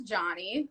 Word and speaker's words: Jawnie: the things um i my name is johnny i know that's one thing a lot of times people get really nervous before um they say my name especially like on something live they're like it's johnny right because it's spelled differently so people get nervous